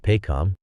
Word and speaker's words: PAHCOM: Also, tapping into resources like PAHCOM, that's PAHCOM, pronounced PAHCOM.